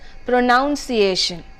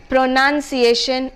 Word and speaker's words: pronunciation: is often mispronounced as pronounce iation alright this is because of the stress factor the intonation and stress factor the stress is on the second syllable the first syllable is